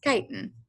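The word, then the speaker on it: chitin: And so kiten in insects and fungi, arthropods and fungi, kiten is that hard outer shell. I'm not you, it's pronounced kiten, okay, with a hard k sound and uh the shell of crustaceans as well.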